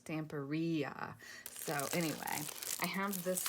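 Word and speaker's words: Stamperia: which you guys know i've gone back and forth on how you say it if it's stampiria or stamporia well i was watching um i think it was gail agustinelli sorry guys i think it was galagasanelli and somebody put it in the comments of one of her videos phonetically and she had two capital e's so it was tamperia so anyway i have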